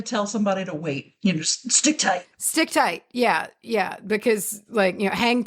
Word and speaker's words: stichtite: Like stick tight, I'm pretty sure I feel like I have heard before. Stick tight. But it's gorgeous. Stick tight is. And to spell it, it is Stichtite. Oh, okay. So it's like stick.